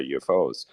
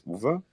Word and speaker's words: Uwe: Okay, that is Mispronounced. UFO. It was mispronounced. Yes, my real name is Uwe.